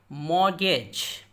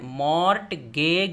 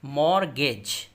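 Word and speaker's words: mortgage: इसी तरह मॉर्गेज, देखिए टी यहाँ खामोश है, मॉर्ट गेग नहीं बोलेंगे और ना ही गेज बोलेंगे, मॉर्गेज, रहन या गिरवी।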